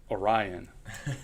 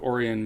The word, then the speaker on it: Orion: See, to be in Michigan and to understand that it's not pronounced Orion is a key skill that I possess. Lake Orion, Michigan, you're the son of Colin and Dawn.